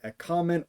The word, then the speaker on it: ἔχομεν: variant with the word ěchomεν or єхомен. You'll notice that I pronounce those two words differently from one another. Ěchomεν with the omicron, o little, o micron. I do as a short ah sound, and as the subjunctive